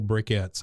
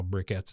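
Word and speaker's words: briquettes: of ma andpa charcoal bricketts I've always I always thought it was was weird how brickets is spelled but b r i quu e Tes uh that's just a weird name to me bricket uh burnt wood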